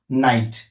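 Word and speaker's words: knight: आल असेल तर ते के सायलेंट असत जस की नाईट spelling K एन आय जी एचटी असलं सुरुवातीला के असलं तरी के सायलेंट आहे याचा उच्चार होतो नाईट नक नॉलेज तिसरा नियमडी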